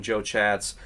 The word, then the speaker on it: Chatz: you're not already following Joe chats go do that he puts out a lot as he calls him little chats because his last name is spelled c h a TZ when he does interviews